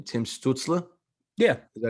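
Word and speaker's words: Stützle: I personally think, and I'm going to butcher his name, Tim Stutzla.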